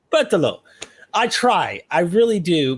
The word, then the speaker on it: Berthelot: Katel Berthelot. I'm trying. Correct me. How do you pronounce it? Katel Berthelot. Berthelot.